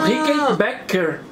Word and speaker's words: Rickenbacker: A pronúncia é Bay, que é B-A, Bay. Só que é B-A-K. Quando Bay. É B-A-C-K, back, costas, é back. Ah! Então, Rickenbacker. Ah, entendi. Tem o sufixo R, Rickenbacker. Nunca mais é R, é só lembrar de costas.